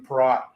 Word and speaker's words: Perrott: tonight, former NHLer Nathan Perrott. Am I saying it right? Is it Perrott or Perrott? I'm sure you've heard it all. Perrott is normally how it's pronounced, but it should be pronounced Perrott, but yeah, phonetically, but yeah.